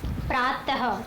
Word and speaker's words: प्रातः: विसर्ग बोला जाता है, और इसको जब हम बोलते हैं तो आधा ह की तरह ये स्वर निकालता है, यानी कि आधा ह की तरह इसको उच्चारण किया जाता है, जैसे कि प्रातः, क्रमशः, निःसहाय, निःसंकोच, प्रातः, त के बाद ह की आवाज़ आती है।